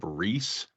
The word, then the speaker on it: Riis: And then Jacob Riis, R-I-I-S, I don't know, I guess that's how you say it.